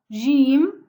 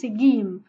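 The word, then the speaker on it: جيم: doit prononcer la lettre Jim comme ça, Jim. Parce que dans certains pays, comme chez nous en Égypte, on le prononce Gim. Mais pour lire le Coran, on doit prononcer Jim.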